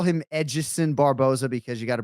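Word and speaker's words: Edson: you just call him edgeson barboza because you got a brazilian girlfriend did you just call him oh that's a lot i mean that's how his name is pronounced is it not i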